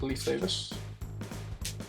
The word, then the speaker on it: Leif Davis: It is Leif Davis. That's how you pronounce his name.